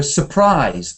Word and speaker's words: surprise: Don't stress the beginning. So you want to s stress the ending. So surprise.